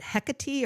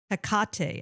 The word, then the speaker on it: Hecate: I pronounce it Hecate, which may be the Australian accent coming through, I don't know. But look, there's so many different ways of pronouncing it. I think unless you're Greek, we're probably pronouncing it all wrong.